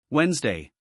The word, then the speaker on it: Wednesday: Wednesday This word looks difficult. It is spelled Wednesday but we say Wednesday Example My English class is on Wednesday.